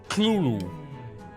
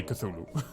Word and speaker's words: Cthulhu: pronounce what we call Cthulhu. It's actually supposed to be 2 syllables with the tongue to the roof of your mouth. So it's something like Cthulhu.